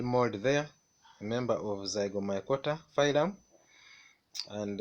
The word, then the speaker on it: Zygomycota: Pronounce with me, Zygomycota.